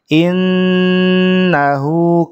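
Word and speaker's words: إِنَّهُ: Panjang pendeknya, kemudian ini yang ayat ketiga yang tasydidnya tidak ditahan, ada juga yang ditahan seperti nun tasydid ya. Innahu, kalau ini jelas harus ditahan ya.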